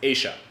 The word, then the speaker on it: ella: Here in Buenos Aires, it's pronounced Asia.